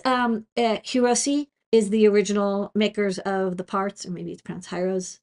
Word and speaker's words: Hirose: So UFL, it's Hirose is the original makers of the parts, or maybe it's pronounced Hiros.